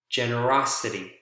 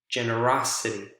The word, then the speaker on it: generosity: Generous, generosity, generous, generosity. A shift over.